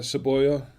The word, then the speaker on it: Savoya: Um my last name being Seavoya name for royalty and but however uh seavo savoja is uh savoya how you say it is uh in Spanish is is a Spanish word for onion.